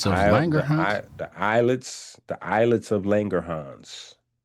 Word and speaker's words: islets: The eyelets. The eyelets of Langangerhans. It says islets. Yeah. They're pronounced eyelets. S is silent. Oh, the S is silent like aisle.